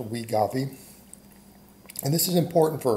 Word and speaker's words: Wegovy: I believe it's pronounced Wegovy.